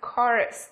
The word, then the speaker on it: chorus: Lưu ý không phát âm là chờ như là chaos này, hay là chorus, hay là Christmas nhá, mà phải là gì? Chaos, chorus and Christmas.